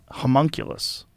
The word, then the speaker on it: homunculus: Homunculus. Really? That's Yeah. how you say that? It's spelled animacule?